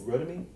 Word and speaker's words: Rotimi: So it's like Timmy. Yeah, it's Ro and then Timmy. Yep. So is his name Timmy? Nope, it's Rotimi.